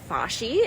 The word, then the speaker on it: Fashi: and I was like, "Is that pronounced Fashay?" And he said it was.